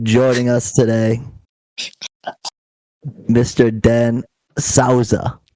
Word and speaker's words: Souza: to meet but joining us today Mr Dan Sauza right oh you nailed it man yeah see I'm very open-minded here I got told to stop saying Souza like I've been mispronouncing for it's the Portuguese